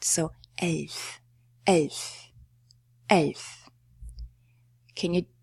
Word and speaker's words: elf: Now we have a little elf. And it's not "elf" because all German Ls are pronounced soft. So, elf.